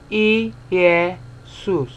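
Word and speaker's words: Ἰησοῦς: so same thing here this is Jesus e yeah soos three syllables so classical Greek speaker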